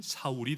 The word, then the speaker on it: 사울: 사울, 그 이름을 히브리어로 말하면 사울이 됩니다. 그리고 헬라어로 발음하면 바울이 됩니다.